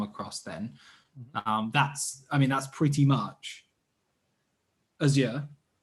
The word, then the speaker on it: Azure: that we come across then, that's pretty much Azure, right? Microsoft Azure or Azure for our I actually prefer saying Azure.